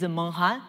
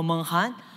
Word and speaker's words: Meng Han: So my name is Meng Han. And to easily help you to remember me, I came from Inner Mongolia of China. So my name actually from same pronunciation of Mongolia. So Meng Han, I am a assistant